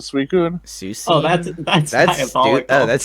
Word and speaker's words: Suicune: I have a friend who pronounced it Susine instead of Suicune.